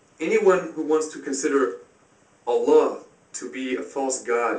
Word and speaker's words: Allah: without a DOT Allah it can also be pronounced Allah the Arabic word is Allah the difference is mainly the the elongation of